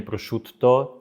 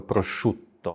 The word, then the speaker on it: prosciutto: ten błąd Niejeden raz a przut też 2T czyli nie Prosz Tutto tylko Prosz Tutto u to już trudne